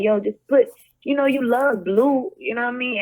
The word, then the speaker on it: Bleu: good, like, and and I decided to spell it Bleu because I'm Haitian. So, so it's like baby blue.